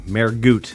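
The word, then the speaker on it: Mehrguth: Mergoot.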